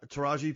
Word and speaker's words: Taraji: Tarijia. Yeah. Uh Taraji Pensen.